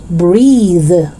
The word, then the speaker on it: breathe: as breath breath and the second one is voiced so you say breathe breathe it's not breathe